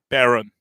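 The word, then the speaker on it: Barron: now and then he's how do you say his first name baron baron like is in the red baron yeah it's like he's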